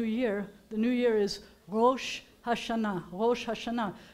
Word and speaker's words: Rosh Hashanah: The new year is Rosh Hashanah, Rosh Hashanah. So you've got a resh, and you have an aleph, and I am not going to lie to you. The aleph is silent in this, but it's not really